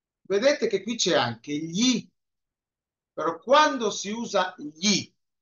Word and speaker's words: gli: Se tiene que pegar la lengua al paladar y luego va bajando.